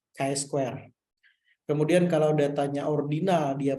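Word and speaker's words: chi-square: Mahasiswa sering bilangnya C square. Padahal cara bacanya itu adalah Kai Kai square.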